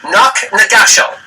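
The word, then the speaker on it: Knocknagashel: Knock Nagashal. How about that? Is that pronounced that right, Jill?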